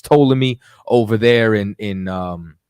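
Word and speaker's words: Ptolemy: know what I'm saying the p is silent but it's totally me over there in in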